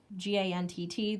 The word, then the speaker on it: Gantt: book talked about the I think is pronounced the Gantt chart GaN TT the Gantt chart is